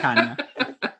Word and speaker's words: Tanya: Spelled like Tanya, but pronounced like Tanya.